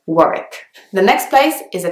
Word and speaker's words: Warwick: next one is Warwick Warwick has a W in the middle but it's not pronounced so you don't say Warwick you actually have to say work the next place is